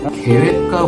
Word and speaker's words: GWK: 계획과 공원이라고 있어요. GWK라고 표기되어 있는데 계획과라고 읽더라고요. 여기에 가시면 세계에서 가장 높은 동상을 볼 수 있습니다.